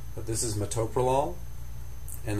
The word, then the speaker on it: metoprolol: This one gets mispronounced all the time because it's actually four syllables. Mtopol, but you'll hear it pronounced with the accent in the wrong place. Pronounced metaprolol and that's not correct.